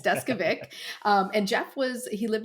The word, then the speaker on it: Deskovic: is uh jeffrey deskovic it's not an easy last name lots of people ask me how to pronounce that before they ever start talking to me but yeah it's desk vic and jeff was he